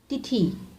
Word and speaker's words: तिथि: तिथि छोटे ई की मात्रा का उच्चारण होता है।